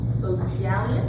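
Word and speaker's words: Bohjalian: The first read-alike I have is The Jackal's Mistress by Chris Bojalian. I believe is the correct pronunciation. At least say that's how it was in the audiobook.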